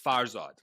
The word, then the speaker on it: Farzad: farzad is a um it's actually pronounced farzad but i don't even pronounce it but i didn't even pronounce it that way because i'm like